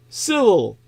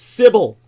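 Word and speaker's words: Sybil: most famous famous novels civil I didn't pronounce that correctly it's not civil at all it's civil syil Sy YB i l and it's subtitled after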